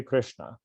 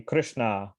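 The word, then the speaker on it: Krishnā: The Krishna, with a long A on the end, is another name of the Yamuna River.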